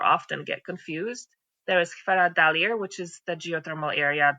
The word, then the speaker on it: Hveradalir: It's called Hveradalir. I think that's how you say it, probably not properly in Icelandic, but that's what it is, Hveradalir.